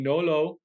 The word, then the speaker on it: Nolot: is my man Nolo I had to look up how to say your last name because that t is silent but uh we know